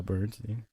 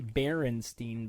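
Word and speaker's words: Berenstain: the bearing straight it's it's actually barenstein bears but everyone so they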